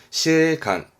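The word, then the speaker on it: 司令官: 사령관이 되는데 발음은 시레간, 시레간, 시레간 이렇습니다.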